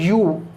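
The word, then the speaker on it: ewe: Okay देखो ई डब्ल्यू ई, इसका pronunciation होता है यू, क्या होता है यू।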